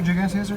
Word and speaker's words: gigantea: Yeah, there's 2 giganteas right there? Yeah, there's 2. It's pronounced gigantea. Gigantea. Not J. There's no J.